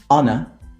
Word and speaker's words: honor: There are only 4 words in which the H is silent. And obviously the words that are either compound or that come from these words. And they are our, honor, honest, air.